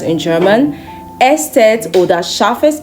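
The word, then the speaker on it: Eszett: It looks more like the beta sign, but it is pronounced Estet in German. Estet oder scharfes S.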